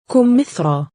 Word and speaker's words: كمثرى: As you can hear, we pronounced ya as a long vowel aleph, and there are not dots below it.